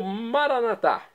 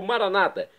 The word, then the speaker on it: maranata: E agora eu clamo maranatá, como dizemos nós católicos, ou maranata, como dizem nossos irmãos separados, os evangélicos ou protestantes.